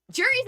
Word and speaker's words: Cherri: Cherri's a furry. That's why her name's Cherri, because it rhymes with furry.